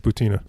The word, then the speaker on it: Maria Butina: little controversy this week how do you pronounce her name is it boo Tina or is it boo tainha I've verified that it's a boo Tina oh you have okay after heard a few people say buta not that it made